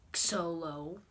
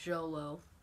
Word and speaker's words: Xolo: to pronounce that so first it's jolo or solo that's how you pronounce the short name not solo it's just jolo and its full name